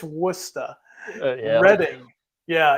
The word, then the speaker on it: Worcester: It's almost as bad as saying Worcester. Right. It's not right. That one I still struggle with that one. But. It's Worcester.